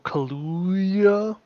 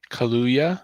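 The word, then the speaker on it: Kaluuya: out yep uh daniel colludia yes not how you pronounce that that's not how you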